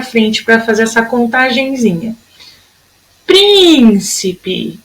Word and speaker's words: príncipe: Príncipe. Olha, tem um acento, a sílaba tônica é a proparoxítona.